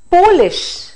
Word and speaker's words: Polish: noun form but then if we say polish we are talking about a person from Poland right so accent is